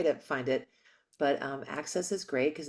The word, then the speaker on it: AXS: and this is on um what's the network access is that how you pronounce it a ACC Access TV AXS TV